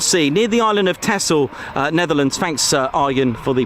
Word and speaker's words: Texel: over the North Sea, near the island of Texel, Netherlands. Thanks, Arjen, for the pronunciation.